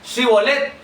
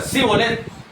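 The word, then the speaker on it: shibboleth: Si ustedes dicen que no son de esta gente, no son efrateos, van a decir chivolet. Díganlo. Y comenzar cibolet. Colet. Ahí estaba. Ellos se comieron la H.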